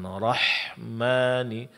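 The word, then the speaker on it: الرحمن: Kemudian suara dilepaskan rahmani rahmani. Namun dia ditipiskan. Jangan terpengaruh oleh ketebalan huruf ra sebelumnya. Ya. Rahmani.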